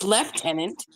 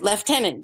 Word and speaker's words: lieutenant: it's not Lieutenant right which is actually in some places pronounced leftenant even though it's spelled l i e u t n a n t right left tenant there's no F in